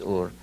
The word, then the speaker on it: Ur: came from Sumer, came from a city called Ur, or Er as many here pronounce it, but the true pronunciation is Ur.